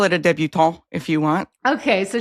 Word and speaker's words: debutante: I feel like I should be saying it like more French and like cut off a letter or something. Débutant. A débutant ball. You can call it a debutante if you want.